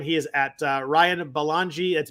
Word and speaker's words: Belongia: is at uh ryan balangi that's b-e-l-o-n-g-i-a i know it doesn't spell sound like it spells but that's how it's spelled um i am